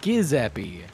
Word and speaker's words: Giuseppe: I said Giuseppe, and then I said Giuseppe. No, it's Giuseppe. I said that. No, you said guh, like a hard G. It's a soft G, like Jim.